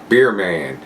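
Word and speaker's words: Bier: guy Steve is doing beer man and it and it's B it's like the German pronunciation b i e r man I'll put those links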